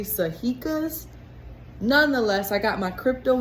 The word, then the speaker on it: sajica: been saying it wrong i thought it was sachika's but i think it's actually sahika's nonetheless i got my